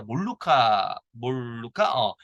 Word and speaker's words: 몰루카: 대표적인게 이제 몰루카죠 그죠 옛날 선생님들은 말라카라고 배웠는데 일본식 발음으로 지금 현재 그 원래 스펠링이 이렇게 돼 있는데 영어 발음 마하가 이렇게 되거든요 근데 우리나라에서 이제 몰루카 몰루카 이렇게 지금 질의 과목에서